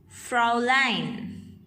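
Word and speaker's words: Fräulein: titles the unwritten titles frolin frolin miss hair frau mrs sorry for the mispronunciation here it's frau line fraulein this was the brief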